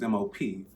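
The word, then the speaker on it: MOPP: don't know squalor but that word is mop this acronym is m-o-p-p and it actually you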